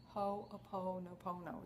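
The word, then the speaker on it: Hoʻoponopono: Hooponopono, it's all O's in there. In fact, it's, I'll spell it for you. It's H-O, and then there's an apostrophe, P-O-N-O-P-O-N-O, Hooponopono. Actually, I don't have it right here. It's H-O apostrophe O-P, all right, Hooponopono.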